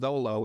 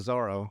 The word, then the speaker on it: Zoro: in the manga it's Zolo instead of Zoro. Mm-hmm. But apparently in Japanese it's interchangeable, so Zoro and Zolo are the same thing. Because the L's and R's are changeable.